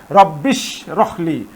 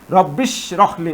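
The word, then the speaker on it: رَبِّ اشْرَحْ لِي: হামজাটি হচ্ছে হামজা অসল তাহলে এখানে এই হামজাটি আর উচ্চারণ হবে না। সরাসরি রব্বি এইশিনকে ধরবে। রব্বিশিনকে ধরবে। অর্থাৎ রব্বিশ রখলি রব্বিশ রখলি এটা হবে।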